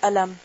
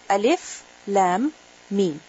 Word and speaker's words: الم: And each of them is read. It is pronounced separately. In the sense that you don't say ألم. You don't say ألم. How do you say? ألف لام ميم.